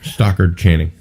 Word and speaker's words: Stockard Channing: Sorry, Stockard Channing.